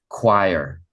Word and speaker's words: choir: highlighted this is choir it's spelled differently than what it sounds like right that's what it's spelled like normally in English we would say like choyer but we say choir all right so we're